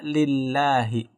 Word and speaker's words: lillahi: Nah, ketika alifnya hilang itu dibaca lillahi.